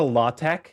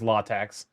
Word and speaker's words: LaTeX: And closer to LaTeX is the common way to pronounce latex. Although there's a few accepted variants, like the X in tex is meant to be chi.